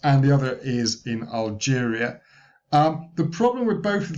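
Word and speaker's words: Algérie: There was a lot of discussion of Algeria That's how you say it in French.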